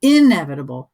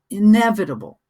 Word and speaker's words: inevitable: You can see that some of the syllables are bold, dark. That's where you put the stress. And that's why you don't say inevitable, it's inevitable.